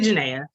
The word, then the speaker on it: Janaea: I'm not going to hold Melissa accountable for for pronouncing it Janaya. Everybody does. Um, my mom put the I and then you just messed everything up. But it's actually Janaea.